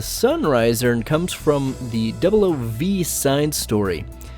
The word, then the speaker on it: XN Riser: The XN Riser is actually pronounced the Sunriser and comes from the 00V side story.